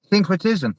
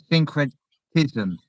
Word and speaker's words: syncretism: That's usually just break it down, usually 3 key syllables, and then it kind of flows. It's not synchronicity, but it sounds the same. Syncretism.